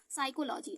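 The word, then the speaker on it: psychology: आपको आना ही चाहिए एस के बाद देखिए एस पी के बाद क्या है एस है लेकिन पी के बाद ऐसा है लेकिन इसको साइलेंट कर रहे हैं पी को तो इसका प्रोनॉन्सिएशन क्या हो गया साइकोलॉजी ऐसे ही पी के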